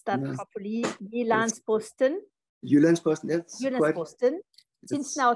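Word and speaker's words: Jyllands-Posten: I'm sorry, I'm not going to pronounce that properly. Jyllandsposten.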